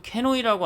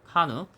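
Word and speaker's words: CANoe: 용어가 많이 넘어와서 아직도 캐노이라고 합니다. 캐노이라고. 일본식 발음이고 영문 발음으로는 카누.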